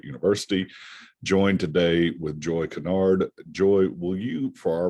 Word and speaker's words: Kinard: the last name is canard and that's spelled k-i-n-a-r-d in some places in the country it's pronounced kynard but um the past two generations we've been pronouncing it canard that's in south carolina